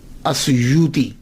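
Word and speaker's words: السيوطي: ہوں ان کے نام کے ساتھ۔ ایک ہے السیوطی، آسیوطی، الف کے اوپر زبر، شروع میں الف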